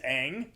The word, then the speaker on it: Aang: It's not Ong. It's Aang. The way Yeah.